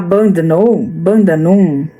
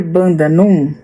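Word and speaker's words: Bundanoon: também que se chama deve-se falar Bandanum, deve ser Bandanum, mas se escreve Bundanum, que fica em New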